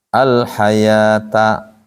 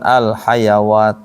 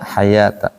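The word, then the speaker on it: الحياة: Kalau t marbut berarti ini bacanya alif alhayata bukan alhayawat ya di surah almulak kan tabarakalladzi biyadihil mulku wahua ala kulliin qodir alladzi khalaqal ma wal hayat tulisnya kayak gini ayat ituh bacanya hayata bukan hayawat jadi cirinya itu aja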